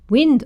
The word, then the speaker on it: wind: winds his grandfather's watch wind on the other hand pronounced wi with a d wind means a movement